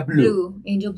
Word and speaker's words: Bleu: escribe pleu pero se pronuncia Blue Ok ahí está resuelta la duda para todos